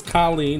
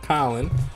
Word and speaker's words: Kolin: So this is Kolin, not Colin.